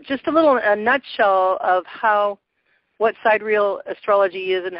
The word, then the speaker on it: sidereal: This Sidereal, or Sidereal is how it's actually pronounced, is the most popular form in the world, especially by the Vedics, who use this system.